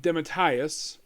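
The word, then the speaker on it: DeMatteis: the series yep now JM dematius that's how he pronounced his last name he is Major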